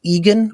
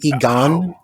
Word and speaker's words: Egan: of the things of Egan oh and by the way it's pronounced Egan with the emphasis on the first syllable rather than Egon which is the Ghostbuster who is you know